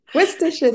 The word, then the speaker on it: Worcestershire: Worcestershire sauce.